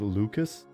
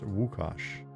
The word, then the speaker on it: Łukasz: It looks like it would be spelled Lucas, but it's apparently pronounced Łukasz. Yep. Lucas with a Z, exactly.